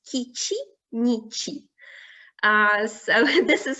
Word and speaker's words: Kici-nici: It's Kici-nici. So this is how it should be pronounced.